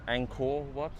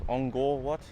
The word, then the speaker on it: Angkor Wat: K's in Cambodia, you pronounce it with a G sound. That's why it's called Angkor Wat, not Angkor Wat. It's Angkor Wat.